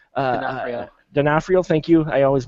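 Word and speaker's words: D'Onofrio: Vincent uh Denafhorio uh Denafhrio. Thank you. I always mispronounce that.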